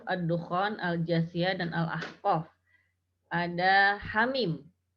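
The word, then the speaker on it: حم: dan al-ahqaf ada Hamim Bagaimana cara membacanya Niha dibaca Dua harokat tanpa imbuhan Hamzah kemudian mim dibaca 6 harokat hai hai Min hammin hak Yah aku bukan hak jangan khawatir tapi hak Hamin haknya tidak ada imbuhan hamzahnya tidak boleh dibaca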